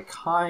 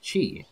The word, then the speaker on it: K1: Spelled K-I. Kai, it is actually pronounced Chi, as I'm told by many people.